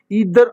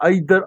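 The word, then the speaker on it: either: ईदर आर, आइदर आर, ठीक है। ये दो तरीकों से इनको आप प्रोनाउंस करते हैं, लिहाजा इनको भी आप देखें, ईदर का इस्तेमाल हो गया।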